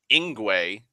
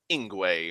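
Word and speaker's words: Yngwie: Isgramor, and it's a Y, so I know that Y's are, and in Tolkien's languages, Y's are usually pronounced as an I. And so I assumed that the IE at the end was pronounced A.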